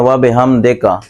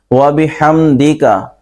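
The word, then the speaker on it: وَبِحَمْدِكَ: یہ ہے سبحانک اللہم، آگے وَبِحَمْدِکَ، لوگ پڑھ رہے ہوتے ہیں وَبِحَمْدِکَ، ہا کی بجائے ہا پڑھتے ہیں، دال کو مجہول پڑھ رہے ہوتے ہیں، یہ غلط ہے۔ وَبِحَمْدِکَ، آگے وَتَبَارَكَ اسْمُكَ، لوگ کیا کر رہے ہوتے ہیں؟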